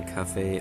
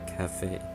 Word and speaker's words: Kafei: led to believe that it's either Kafei or Kafei, with the accent on the fei. It's probably supposed to be a reference to café in Spanish, or just so the accent, because in Spanish the accent goes over the e.